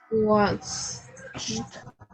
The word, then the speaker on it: washed: ¿Cómo vamos a pronunciar? Sería brushed. Brushed. Brushed. ¿Cómo sería acá? Washed.